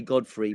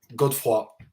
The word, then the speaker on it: Godefroy: your name again properly and then we'll say Godfrey but how do you say it properly just so we know good for good work good for like cold good for